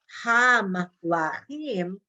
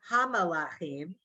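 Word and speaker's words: המלכים: But when you saw hamlachim, you knew it's not hamalachim, but it could have been.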